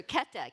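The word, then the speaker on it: Käthe: k k sounds cuter the reason I have to say it the German Way is because Luther would joke that he was that she was her Keta k t t a so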